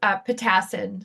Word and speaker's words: Pitassin: Um, and my last name is pronounced Pitassin. So it was very fun to hear people say it and butcher it, and I think it's sweet. It means little bird in Polish.